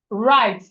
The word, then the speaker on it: write: Write is so write something on the board on a paper. The W in write is silent.